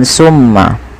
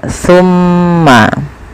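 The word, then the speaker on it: ثُمَّ: teman-teman dalam pelafalan jangan sampai dibaca dengan Sin ya Jangan dibaca dengan tmma tapi dia tumma pakai Sa bukan pakai Sin ya pakai Sa bukan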